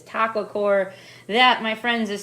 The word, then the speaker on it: Taqwacore: what we're doing tonight it is taco core that my friends is